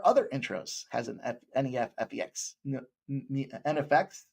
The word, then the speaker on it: NEFFEX: NFX. NFX, I believe, is how you say that.